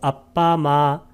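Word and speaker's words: appamāṇa: 그 다음에 아빠마나 할 때 아를 길게 발음하는 것은 아빠마나 요거 하고 그 다음에 아바가 뭐라고 했습니까?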